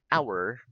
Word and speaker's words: hour: Because the because letter H letter H in the word hour, in the word hour is silent.